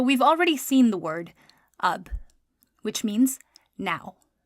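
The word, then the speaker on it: اب: So we've already seen the word ab, which means now. Ab is alif and be. Ab.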